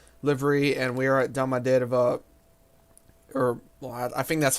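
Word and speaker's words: Домодедово: and we are at Domodedovo, or, well, I think that's how you would say it in English. The correct term is Domodedovo, which is how it is pronounced in Russian.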